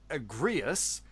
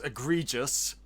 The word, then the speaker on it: Agrius: Agrius, who I keep on about to mispronounce as egregious, but to him, to them, he is very much egregious.